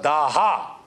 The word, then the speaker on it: daha: in Iranian in Persian you don't pronounce the S you pronounce it as H when we say s they say h when we say Dasa they say they say uh daha daha right and uh